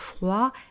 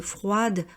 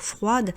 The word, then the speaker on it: froid: Et là aussi, j'ai beaucoup d'élèves qui prononcent la consonne finale, donc qui disent froide, retarde. Non, le français n'est pas l'anglais. En français, généralement, on ne prononce pas la dernière consonne.